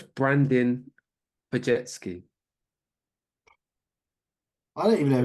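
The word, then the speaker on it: Brandin Podziemski: I've set you up to fail on that one because that last name is one of those European. Well, I assume it's European that doesn't actually pronounce how it looks. So it's Brandon Pajetsky.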